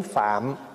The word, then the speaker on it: Phạm: nói tiếng Phạn đó chứ nếu mà nó phát âm cho đúng hay nó là tiếng phạm tại tiếng phạm là